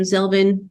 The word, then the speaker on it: Zelvin: at zelvin and zelvin is rhymes with melvin but with a z um so are kelvin